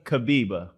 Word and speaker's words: Kibibi: I know you told me, so I'm glad I pronounced it right. So now I'm going to try the last name. Go ahead. Aziza Kibibi. Kibibi.